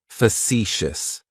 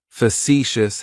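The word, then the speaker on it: facetious: of describes me is fous fous has three syllables and the stress is on that second syllable it's like you're just saying the letter c for C that first syllable has that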